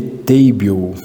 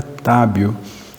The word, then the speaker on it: Tábio: americano lê, ele lê Table, né? Eu até fui lá a primeira vez lá e uma pessoa falou, seu nome é Table? Eu falei, não, é Tábio.